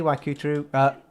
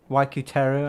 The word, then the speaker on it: Waikuteru: Oh, hey Waikuteru. Waikuteru, I should say.